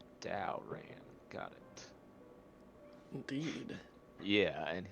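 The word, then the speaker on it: Daoran: r i toric and Daran is d a o r a n Dow ran got it indeed yeah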